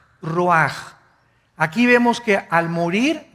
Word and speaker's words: ruach: Isaac cosa el ruaj que se escribe r u a c h ruach en el hebreo y se pronuncia igual ruaj Aquí vemos que al